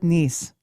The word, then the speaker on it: Nese: Nostalgia with Nese. Yes. Just remember, I'm Japanese. And that's where the knees comes from. The knees. Nese. Yes. Nese. A lot Yes, of people Nostalgia with get it- Nese.